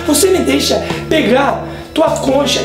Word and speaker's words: concha: Entonces, como bien dice Tali TM, que me olvidé de decir la palabra concha o concha, la pronunciación correcta es concha, que significa cuchara y que obviamente puede dar una confusión grande como la que hablamos ahora.